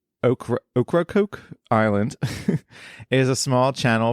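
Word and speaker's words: Ocracoke: going to mispronounce already o c r a c o k e is like o okra Coke island is a small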